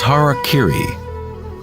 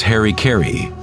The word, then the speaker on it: harakiri: one form of ritual suicide or seppuku was harakiri was often mispronounced as Harry Caray it means to impale one's Hara thereby cutting